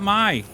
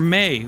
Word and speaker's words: Mai: is that like like every time I see Mai like spelled out like that, I think of how it would be pronounced in Japanese because of anime and all that. And that would be pronounced Mai. Mai. Even though they spell it like even though they act like the I is a Y for some reason.